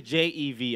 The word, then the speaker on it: jevi: It's actually Jevi.